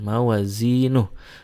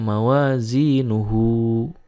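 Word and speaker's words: مَوَازِينُهْ: Nah, haknya di sini kalau diwasolkan itu jadi mad silah, tetapi kalau diwakofkan maka dibacanya jadi sukun, mawazinuh, tidak mawazinuhu.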